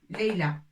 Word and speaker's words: ليلى: Leïla a comme ça, ياء بدون نقط. Au lieu d'écrire ألف طويلة, on écrit ياء بدون نقط وننطقها A. Leïla. Hein? Ça prononce A avec ياء sans point. Ça se prononce A.